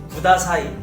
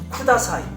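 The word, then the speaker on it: ください: 그러니까 우리나라 사람들이 일본어를 구다사이 곤니치와 이렇게 발음하는 것들을 자세히 알아보면요 쿠다사이, 콘니치와 약간 이런 스타일이에요.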